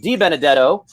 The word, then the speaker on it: Benedetto: I'm not going to mispronounce his name because I had a high school football coach. His name is Benedetto.